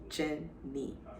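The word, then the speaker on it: Jeanne: what he told me so um my name is spelled j e a n n e and everyone knows me as jen me so that's the story behind my name where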